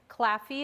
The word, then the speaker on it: Claffey: my email address is uh d for claffy is my last name it's spelled c l a f is in frank